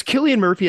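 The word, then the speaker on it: Cillian Murphy: Killian is it Killian Murphy Killian Murphy it's Killian Murphy as Oppenheimer and then Emily Blunt as his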